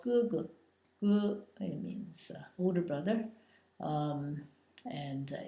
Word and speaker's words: 哥: Your older brother is called 哥哥, 哥, it means older brother, and it's pronounced G-E, 哥, in the first tone, and your younger brother is called 弟弟, 弟弟, and it's pronounced in the fourth tone, 弟.